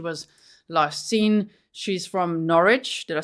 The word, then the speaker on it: Norwich: old when she was last seen she's from Norwich did I say it right guys you guys taught me last time Norwich Connecticut she was a single mother she was